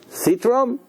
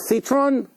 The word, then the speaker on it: citron: trog in English huh citrum citrum with n in the end Citron sounds like Citroen French car all right Citron so